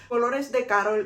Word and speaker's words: Colores de Carol: meant to be pronounced dolores de carol is a spanish name the maker of the